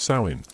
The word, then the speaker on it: Samhain: It was called Samhain, pronounced sain, and it marked the